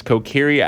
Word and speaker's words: Kokiri: So I know it's Kokiri.